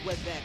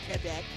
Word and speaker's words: Quebec: It's not Quebec, it's Quebec. Quebec, yeah.